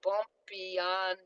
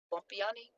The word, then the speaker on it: Bompiani: Anthony Bompiani, hold on, he pronounced his name the other day, Bompiani, Bompiani. His name is Bompiani.